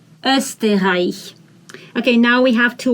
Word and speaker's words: Österreich: This is O umlaut. That means it's not O, it's Österreich, Österreich.